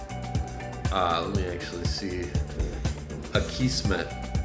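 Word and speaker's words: Akismet: let me actually see a key smith is how it's pronounced the Kismet um spam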